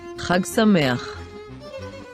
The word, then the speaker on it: חג שמח: So we say, חג שמח, חג שמח, wow, now you know all the letters.